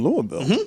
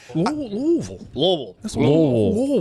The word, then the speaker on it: Louisville: But I Louisville. They they take exception to this. Louisville. One syllable. Louisville. Maybe two.